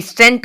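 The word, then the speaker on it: scent: चाहिए तो सेंट सेंट एस ई एन टी सेंट का यूज़ हुआ है मतलब होता है इधर सी साइलेंट हो गया है सी साइलेंट हो गया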